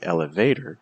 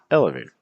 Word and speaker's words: elevator: Take a minute to ask yourself, how would you say these words? If you would say these as elevator or calculator or appetizer, that's not necessarily the most natural pronunciation for these compared to elevator. See the stress on L, elevator, or calculator. See the stress on calculator, or appetizer, appetizer. So you don't want to say elevator, you want to say elevator.